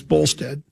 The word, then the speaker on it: Bolstad: You're really making me mad by closing Les Bolstad, though it's Bolstead. It's Bolstead. Well, you can just rhyme the last syllable.